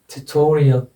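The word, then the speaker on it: tutorial: ऐसे ही इसमें आ जाएगा यहाँ पर, इस सिलेबल पर ट्यूटोरियल, ट्यूटोरियल, ट्यूटोरियल, ट्यूटोरियल, ट्यूटोरियल। यहाँ पर जाकर ज़्यादा जोर देना है शब्द पर उच्चारण करते समय।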